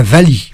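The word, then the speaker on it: valiha: Alors ça s'appelle la vali. La vali. Oui, alors ça s'écrit V-A-L-I-H-A. Et on prononce Vali, pourquoi?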